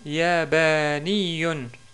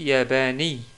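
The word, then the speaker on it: ياباني: Troisième mot, le mot yabaniyun, yabaniyun, qui veut dire un japonais. Ou on pourrait dire aussi yabani, si on s'arrête sur le mot.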